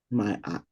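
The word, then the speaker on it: Maat: a little a t mayat May yeah yeah myat okay myat is the goddess of giving and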